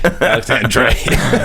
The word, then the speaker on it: Alexandre Desplat: It's Alexander, by the way, not Dre. Alexander.